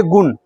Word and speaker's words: गुण: जैसे आप बोलिए गुण, गुण बोला तो नो को उच्चारण करते वक्त आपका जो दांत है वो तालु के और मुड़ता हुआ दिखाई दिया है, इसीलिए क्या लगा यहाँ पे, बड़ी नो लगा।